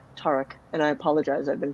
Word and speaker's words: Tarik: prefer taric um i i just say tariq is is technically way harder to pronounce that so i know it's technically static you know so i don't ask people to say that no no it's like my last name i i tend to default to uh the the longer vowels the that tarek and i apologize i've